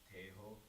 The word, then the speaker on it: tenho: Actually, like the tenho in this verse is actually pronounced teho, and the tanra is actually pronounced tar.